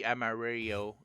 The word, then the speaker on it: Amarillo: It really should be Amario. Rio. Yeah. Amario. Yeah.